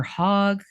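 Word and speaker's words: Hoag: cartoon and uh Judith is it Hogue or hog how do we pronounce hog okay I thought so also from Halloween Town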